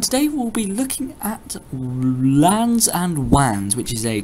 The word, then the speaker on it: LAN: have a look at lans and wands a lan stands for local area network and is pronounced like land without the d a lan is a